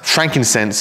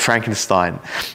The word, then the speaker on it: frankincense: day and age and we often mispronounce frankincense and and you know you'll hear Kids all the Time call it Frankenstein and myrr I think most